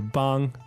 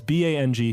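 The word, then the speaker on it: 帮: is the pronunciation for bang Ah that's right um because as we said it's b a n g first tone and to the untrained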